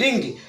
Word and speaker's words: wring: W और R के बीच में कोई वावेल नहीं है, इसलिए यहाँ पर W चुप रहेगा, इसका उच्चारण अगले अक्षर R से होगा। इसे पढ़ेंगे WRING, रिंग।